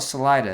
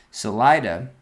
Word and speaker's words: Salida: Um, then they call it Salida. That bums me out. They don't use a Spanish pronunciation. Anyway, Salida.